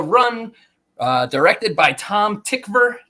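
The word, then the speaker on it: Tykwer: uh directed by Tom tickver doesn't look like it's spelled that way yes said that way um but it is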